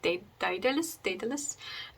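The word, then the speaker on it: Dédale: So it's called Dedale, which is the French way of saying Dedale.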